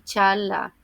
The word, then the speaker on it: Çağla: Ya comenté en un video anterior que la "G con el cuernito", como lo digo yo, o la "G suave" de los turcos no se pronuncia y se estira el sonido de la vocal anterior y en el caso del nombre de ella, la "C cedilla" es el sonido español "ch", así que es "Dooan" y Chaala", así se pronuncia.